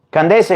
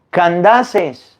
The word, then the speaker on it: Candace: etiope se dice etiope candes no se dice candes se dice candaces Ah pues entonces El